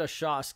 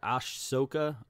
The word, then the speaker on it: Ahsoka: hate them Padme and a shot well I just said it wrong I'm reading it right here Star Wars forces of Destiny are shocked ahsoka ahsoka I didn't watch the